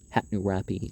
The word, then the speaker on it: Hammurabi: unlike lacerges Minas Hammurabi hat new rappy is how you pronounce his name for real and pneuma he made